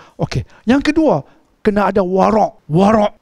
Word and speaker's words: warak: Yang kedua, kena ada warak. Warak. W-A-R-A-K. Warak. Ejaan Melayu tu pun tak tepat. K tu patutnya ain. Warak. Kalau W-A-R-A-K, warak. Tak apa tepat. Cikgu Amir, dia warak. Waw, ra, ain. Warak.